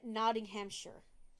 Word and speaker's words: Nottinghamshire: And Nottinghamshire. I mean, it's pronounced shire. Nottinghamshire. Nottinghamshire. I'm pretty sure. Just like New Hampshire.